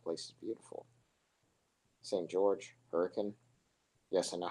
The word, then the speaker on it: Hurricane: George, Hurricane. Yes, I know how to pronounce the name for anyone who is from Utah who is watching this stream. It's pronounced Hurricane, I know.